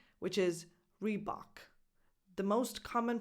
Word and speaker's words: Reebok: I'm going to tell you about the English pronunciation which is rebok the most common pronunciation is rebok it's definitely not rebook rebok and finally number 12 bbery okay so